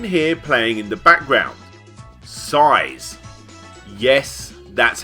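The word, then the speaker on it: PSY·S: Size. Yes, that's how it's pronounced.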